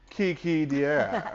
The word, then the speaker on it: KiKi D'aire: Kiki De, hello. Did I pronounce it right?